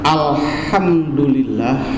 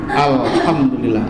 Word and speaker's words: الحمد لله: Itu kalimat alhamdulillah, haknya itu termasuk harap halak, lemes dibacanya. Alhamdulillah, alif lamnya alif lam sansia. Alif inpitah terbuka a alhamdulillah, hakna harap halak lemes.